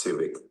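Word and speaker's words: CYVYC: Youth voice youth Choice c y v y c pronounced Civic like the Honda and informing people about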